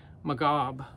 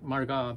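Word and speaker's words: Marghab: read but it's m-a-r-g-h-a-b magob i think it's margot i think is how you say that and they're a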